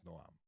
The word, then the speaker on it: Noam: I know it's not Noam. It's Noam.